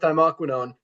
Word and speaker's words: thymoquinone: But there's one crucial part of it, and that is the active ingredient, which thymoquinone. I think I pronounced that right. Dr. Ryan said I did it right last night.